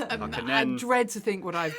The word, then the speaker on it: Harkonnen: Olivia was telling me she had a Comic-Con experience where she said Harkonnen wrong, and some of the fans were like, no, it's two ends. I Harkonnen.